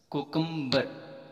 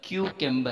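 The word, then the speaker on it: cucumber: अच्छा, कोकम्बर, हम इसको पढ़ देते हैं कोकम्बर, गलत है, क्यूकेम्बर है वर्ड, क्यूकेम्बर।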